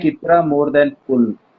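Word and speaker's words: इत्र: I've been pronouncing Itra wrong all this while. I know, right? Lot of people. They were like Aitra. They pronounced it Itra. I think it's actually Itr.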